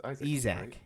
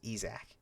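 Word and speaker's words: Yzak: It's Isaac. Isac. Sorry, I don't know how I said it. It was EAC, which is uh voiced by in the remaster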